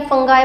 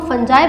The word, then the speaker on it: fungi: कई बच्चों को ये होता है कि यहाँ पर इसको फंजाई नहीं फंगाई बोलते हैं, फंगी बोलते हैं, फंगस बोलते हैं। बेसिकली ये प्लूरल टर्म है, इसको हम फंजाई बोलते हैं।